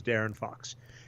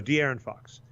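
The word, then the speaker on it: De'Aaron Fox: in here and yeah they emphasize that first syllable deer in Fox that's the D okay so d Aaron Fox so the Aaron Fox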